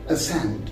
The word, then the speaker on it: ascend: number first we have that is ascend so ascend is spelled as a as c e and d so again the c comes between the later s and the letter e so we say ascend so c is silent here and another example